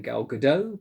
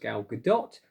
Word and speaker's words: Gal Gadot: uh gadot i believe i usually pronounce the name girl godot but um my daughter assures me it's actually pronounced gal gadot so we'll go with